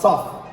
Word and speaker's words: tough: to the other ones we have tough and enough yes these two right they are perfect right because they share